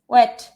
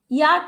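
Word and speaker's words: Wyatt: Sir Thomas ওয়েট। ইয়াট আবার কেউ ভুলে উচ্চারণ করো না, ওয়েট, স্যার থমাস ওয়েট।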